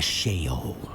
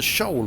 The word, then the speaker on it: Sheol: I've been calling it the Shoal all this time. Goodbye. So I've been pronouncing it wrong.